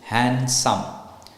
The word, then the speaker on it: handsome: so it's hand and the D is not pronounced it's silent so it's h a n s o m e handsome the D is not